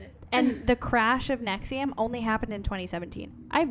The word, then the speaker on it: NXIVM: even covering uh nexium nxivm is how it is spelled but it is pronounced nexium okay yeah so the